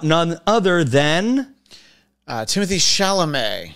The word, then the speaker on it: Chalamet: other than uh Timothy chalamet that rhymes with play that's why I did